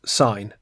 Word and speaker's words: sin: So it looks like the word sin, but pronounced sign.